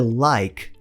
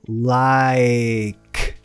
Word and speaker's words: like: O começo da palavra tem um I relaxado. Like. Terminando com k, não ki. A gente tem a tendência de falar like, mas termina com k. Like. Então não se esqueça, sem I no final.